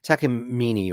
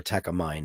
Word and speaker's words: Takamine: Takamine or Takamine, as the Americans say.